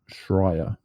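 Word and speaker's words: Schreier: you got here for us from J Jason shrier I shouldn't that's how you pronounce it yeah that's how you pronounce it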